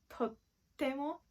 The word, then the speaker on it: とっても: For example, とても美味しいです。とてもお綺麗ですね。But if you pronounce とっても, it becomes the more casual way to say, and it will have an emphatic meaning.